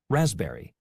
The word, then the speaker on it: raspberry: Raspberry. Okay, so we can see that is silent in the word receipt, psychology, raspberry. However, it is not silent in the word kept.